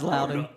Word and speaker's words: Loudoun: Yep, it's Loudoun. I'm not from Virginia. So Yeah, me neither. I couldn't be any help. I'm like, It's Loudoun.